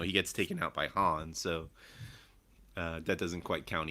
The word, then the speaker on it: Han: weird thing is that leia also says it like that han in that scene because i think she was acting opposite billy d williams who was saying it wrong and just picked it up from that but like no no point did someone say actually it's han weird to me yeah